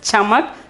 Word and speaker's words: चमक: Okay, we have to pronounce it as chamak.